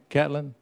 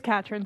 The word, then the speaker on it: Catherine: Did I pronounce that right? Catlin? It's Catherine, sir.